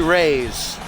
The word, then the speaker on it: Reyes: It is actually Reyes. Twisted has let me know that it is Reyes, not Reyes. I was saying it wrong.